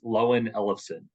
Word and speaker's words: Loewen-Elofson: Yeah, the way how you would pronounce my last name is Loewen-Elofson.